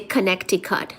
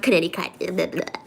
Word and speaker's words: Connecticut: Plumber is pronounced plumber. Plumber. No, I say plumber. Just like I say Connecticut, not Connecticut. I say Connecticut.